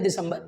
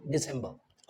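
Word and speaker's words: December: be what दिसंबर okay Hindi में बोला जाता है दिसंबर but when you speak it in English so the sound will be डिसंबर okay so friends hope ये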